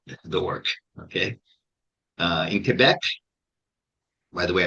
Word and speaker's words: Quebec: Uh in Quebec, by the way, I pronounced it correctly, not quec.